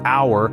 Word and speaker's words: hour: H is a consonant when we pronounce our it begins with a vowel sound like hour so we